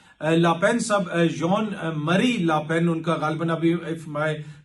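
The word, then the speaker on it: Jean-Marie Le Pen: इनके जो फादर थे लापेन साहब, जॉन मरी लापेन उनका, गालिबन अभी इफ my French pronunciation is right तो जॉन मरी लापेन उनका नाम था।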